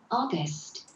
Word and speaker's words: August: August, 자, 여기서 뭐 제가 알려드릴 거는 AU라는 게 힘을 합치면 O 소리 됩니다. O 소리. 파닉스적인 부분. AU는 O가 된다. 그러니까 오거스트죠. 8월은 오거스트입니다.